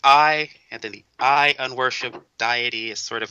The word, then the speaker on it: Unworshipedeity: of the self ah oh it's diety unw worship diety okay I I've been pronounced a deity my my apologies oh